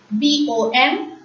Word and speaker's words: bon: B-O-N. B-O-N is pronounced as bon, bon.